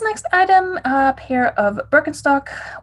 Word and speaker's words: Birkenstock: item a pair of birkenstock or bilkenstock as we say in german i'm in the process